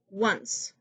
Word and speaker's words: once: We sometimes use the grapheme O to represent the W sound, as in once.